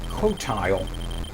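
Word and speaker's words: Qotile: sorry razak 4 um in here is the cotile q t i l e um that is how it's pronounced according to uh warshaw so I'm going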